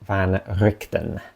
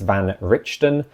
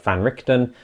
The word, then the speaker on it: van Richten: seen my ear videos I used to pronounce Van richon that's kind of a carryover from an old DM I had who dm'd krad for me that's how he thought it was pronounced so that's how I